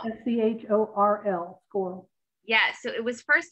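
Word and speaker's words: schorl: Cynthia told me this name, how to pronounce it, and I forgot already just a minute. Squirrel. S-C-H-O-R-L. Squirrel.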